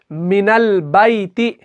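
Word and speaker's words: من البيت: हैं मिनल बैती, मिनल, अब नून को हम लाम के साथ मिलाते हैं, अलिफ को नहीं पढ़ा हमने। अब अलिफ जो है वो साइलेंट हो गया, अलिफ लिखा जाएगा वहां पर लेकिन पढ़ा नहीं जाएगा।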